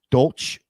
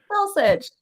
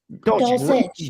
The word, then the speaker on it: Dulcich: Damian Harris, Jacoby Myers, Greg Dolch, or Dolch. I don't know how you pronounce the last name there. Dulcich. Dulcich.